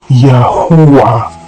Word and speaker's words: Yahuah: They cry Uwa, not Hova, and not Awe. Ho means to breathe, to be, to exist, come into existence. When the infants cry after their first breath of existence, they say Uwa, Uwa, the last two syllables of Yahuah.